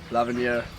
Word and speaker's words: L'Avenir: L'Avenir It means "The Future" Allright, we have a